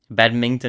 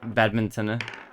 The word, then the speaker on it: badminton: Badmington, he says. I I think I mispronounced badminton. I I keep trying to say badmington.